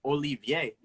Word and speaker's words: Olivier: It's just Olivier. Like Olivier. Yeah, Spanish.